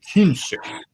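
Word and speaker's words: Küntzer: in Germany, southwestern Germany, the original spelling of the name was K-U with an umlaut, the 2 dots over the U, N-T-Z-R, or sometimes S-E-R or Z-E-R. And pronounced roughly Künstler, because the umlauts over vowels change that vowel sign in a way that Germans seem to manage, but Americans almost can never manage.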